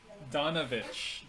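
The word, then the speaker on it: Donavich: and forth his his name is father dominic donovich donovich oh he's a i'm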